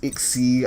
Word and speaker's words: XYZ: It's pronounced XZ.